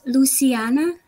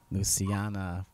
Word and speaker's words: Lusiana: correctly so give it to me the proper pronunciation it's Luciana Luciana it's a beautiful name thank you awesome so